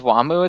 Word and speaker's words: Wamuu: And Wamuu has that similar spelling where his name is spelled W-A-M-U-U, Wamuu.